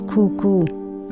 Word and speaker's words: Kuku: of the island was Kuku it's spelled k-u-k-u it was actually cuckoo Beach just a section